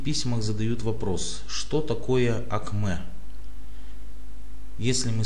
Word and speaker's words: акме: вообще по сути говоря слово АКМ ударение на последнюю букву е это достаточно популярно известное